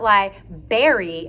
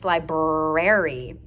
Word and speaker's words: library: It's not liberry, it's libraryary. I always say always tell my students it's not a fruit. It is not a library. It's a libraryary.